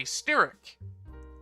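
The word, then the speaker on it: Styric: to some problems um sephenria is a steric uh i think that's how it's pronounced it's like s-t-y-r-i-c if you know how to pronounce that better than stearic let me know um and she is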